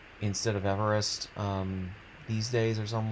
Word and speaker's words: Everest: in Japan um like mispronounced it and called it uh Arvest or something like that instead of Everest.